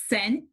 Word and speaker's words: scent: followed by an e this word again is scent number two this c is followed by an